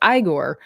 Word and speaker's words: Igor: because it's his his name in the movie is Oh, no. I'm not is Igor. Eigor. Igore. Right. It's Igore.